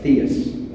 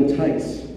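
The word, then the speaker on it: Theiss: for the star trek costume designer and i mispronounced his name i said william where uh theis and the operator said oh you need bill tys i said sure so she connected the call and mr tice answered the phone and that was the phone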